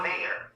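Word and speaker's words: Mayer: a y r is John Mayor that's how you say it mayor that's one of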